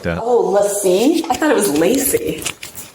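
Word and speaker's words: LaCie: Oh, Lassie? I thought it was Lacey. Lassie? Well, no, it's It's Lassie. It's French. Which We're is it, talking about the guys? hard drive? Lassie. Is it Lacey?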